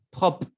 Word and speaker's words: propre: Propre. Propre es limpio. Propre. Es un poco difícil, ¿no? La pronunciación. Propre. Se tiene que escuchar la R al final.